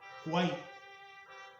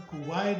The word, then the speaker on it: Kwai: Y en la película se llama El puente sobre el río Kwai, Kwai. Algunos lo pronuncian Kuwait o Kawai.